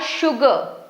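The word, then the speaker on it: sugar: यहां पे एस यू जी ए आर शुगर श साउंड क्रिएट कर रहा है एस यहां पर देख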